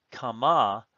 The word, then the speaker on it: kama: Then in parallel to that, bat kama ba'ima. Bat, a daughter. Kama, note that the stress is on the second syllable, indicating a cal participle feminine singular of a hollow root, kum.